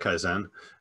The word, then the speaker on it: kaizen: yeah nice uh yeah i pronounce it kaizen um just so you know how it's pronounced and no rule of